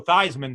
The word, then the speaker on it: Theismann: Theismann situation where he it used to be these men but when they wanted he rebranded him as Joe Theismann to rhyme with Heisman I do that doing